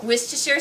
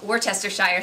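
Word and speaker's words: Worcestershire: apple cider vinegar and some Wier sauce which I used to call orchester Shire sauce when I was a kid so at least I learned how to say it correctly now and then I'm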